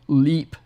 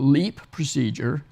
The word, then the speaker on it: LEEP: and what we call leep procedure leap is spelled LEP and is an acronym for loop electrosurgical excision procedure so all three of